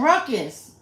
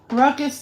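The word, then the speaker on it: raucous: i looked they have audio oh rocus oh ruckus ruckus laughter and saw paul mccain come through the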